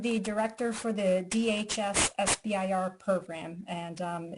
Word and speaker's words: SBIR: just learned I said it incorrectly I always pronounce this as cimber but Dusty how should we all be pronouncing